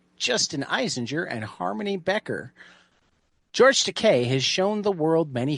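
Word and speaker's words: George Takei: It rhymes with Teay. From George Teay, Steven Scott, Justin Eisinger, and Harmony Becker. George Teay has shown the world many faces.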